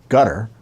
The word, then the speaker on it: Qatar: Qatar I call it guitar I'm told to pronounce it gutter okay it's q-a-t-a-r but